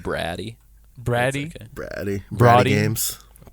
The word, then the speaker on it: Brady: Thank you, Brady. It's That's pronounced, it. it's pronounced Braddy.